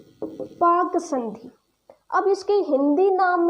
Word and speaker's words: Palk: तो यहाँ पर एल साइलेंट रहता है तो पाक आ जाता है।